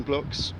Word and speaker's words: Bloqs: middle of it so it's building as it sounds blocks is BL o q s comm and get in